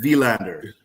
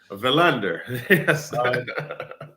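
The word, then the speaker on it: Willander: You have to emphasize the v in vander. Vander vander. Valander.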